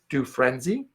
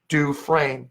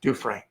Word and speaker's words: Dufresne: So my name is spelled Dufresne. The S is silent. Most people say Dufresne, which is phonetical, but it's pronounced Dufresne. There is no hyphen in it. It's Dufresne.